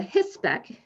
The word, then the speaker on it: HISPEC: The third document, the HISPEC, which is how it's pronounced, it's Health Service Providers Education Consortium, I think it is, but the link is in the document.